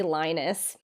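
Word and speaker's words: Linus: big cat big cat lenus olark from the Boston Bruins I always want to say lonus because that's how you say it in America I know so for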